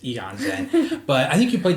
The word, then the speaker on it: Aeon's End: My number 4 is a game called Eon's End, or Aeon's End, depending on how you want to pronounce it. I think I looked it up. I think the proper pronunciation is Eon's End.